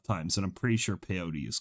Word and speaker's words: peyote: peyote of peyote peyote rhymes with rhymes with coyote i think i think i don't think i have that wrong i i remember watching